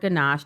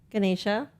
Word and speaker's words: Ganesha: During Diwali, people pray to Lord Ganesh to expect what in return? Wealth, happiness, or good luck? To Lord Ganesha. Yes, I'm sorry, I mispronounced it. Ganesha.